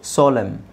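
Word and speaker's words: solemn: ಹಿಮ್ ಹಿಮ್ ಇದು ಕಾ ಲಂ ಕಾಲಂ ಕಾಲಂ ಇದು ಸೋಲಂ ಸೋಲಮ್ ಇದು ಡ್ಯಾಮ್ ಡ್ಯಾಮ್ ಕಂಡೆಮ್ ಕಂಡೆಮ್ okay so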